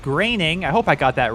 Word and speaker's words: Groening: You guys pointed out in the last episode it's pronounced Groening.